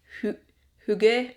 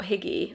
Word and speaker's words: hygge: at home and feel hygge. I think it's hygge or something. It's not higgy, I know that. I'm not sure how to say it, but we're feeling cozy, okay?